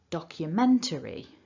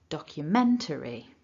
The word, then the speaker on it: documentary: That tells us that our main stress is on the syllable men, and our secondary stress, which is slightly weaker, is on the syllable doc. So in terms of the strength of these syllables, a little bit of stress at the beginning and then that main stress in the middle.